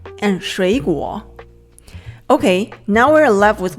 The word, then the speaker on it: 水果: We change the first one to a second tone, 水果.